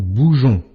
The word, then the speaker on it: bougeons: Nous bougeons. Ici, le son jon est fait avec la lettre G suivie de E. Si tu oublies le E ici, tu n'obtiens pas le mot bougeon, mais le mot bougon.